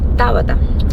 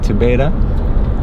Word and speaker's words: Tabata: it yeah how do you say your name Tabata Tabata M oh and how do Americans say your name TI beta Tabata usually yeah mhm Tabata or they ask